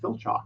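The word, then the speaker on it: Filchock: spell the last name fil CH Ock Phil chalk sounds like something you take for a bed yeah just right now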